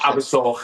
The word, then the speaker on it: Abersoch: Abersoch is pronounced, but I'm doing that for the English listeners, the Abersoch, yeah.